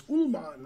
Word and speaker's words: Uhlmann: Oh, he's mispronouncing it. It's Uhlmann.